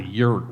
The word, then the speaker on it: yurt: I followed some very cool people and helped build a yurt, whatever that was. I knew it sounded like yogurt, but one syllable only.